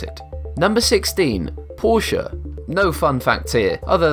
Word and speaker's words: Porsche: The correct pronunciation is Porsche. Porsha.